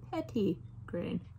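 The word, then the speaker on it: petitgrain: was trying to do pronounced petty grain all right essential oil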